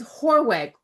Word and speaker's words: Hoorweg: It's Hoorweg, correct?